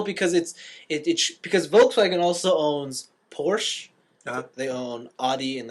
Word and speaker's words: Porsche: Yeah, I say it with the E on the end. Porsche. No, just E, like Porsche, I say Porsche. because it's spelled CHE. Oh, where did they get the A from?